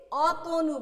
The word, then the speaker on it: অতনু: আবার এখানে একটা শব্দ লিখি অতনু, আমরা কিন্তু এটাকে আমরা বলি না অতনু, সেভাবে বলি না, কি বলি অতনু বলি।